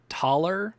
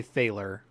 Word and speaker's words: Thaler: The word I'm about to say is supposed to be pronounced taller, but I'm going to say Thaler.